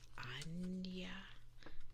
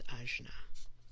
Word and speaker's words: Ajna: But I've heard it's pronounced so many different ways. Anya. I don't believe it's Ajna. I don't think so.